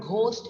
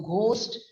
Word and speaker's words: ghost: vocabulary in your subject the letter h in the word ghost is silent so ghost rhymes with most in fact the letter